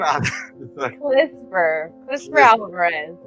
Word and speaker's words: Clisver Alvarez: How do you pronounce your name again? Clisver Alvarez.